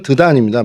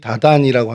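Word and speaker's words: Dedan: 예, 히브리어로는 드단입니다. 말 그대로 드단이고요. 이게 헬라어로 발음이 다단이라고 하는데 이 다단이라는 발음이 오늘날에도 이 아랍어에서 그대로 통용돼서 사용되어지고 있습니다.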